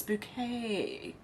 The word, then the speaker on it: Bouquet: Keeping Up Appearances show Mrs bucket no it's no it's bouquet yep my mum loved that show checkered past I do too actually her name is spelled like bucket but she pronounces it bouquet Shannon said saffron Alex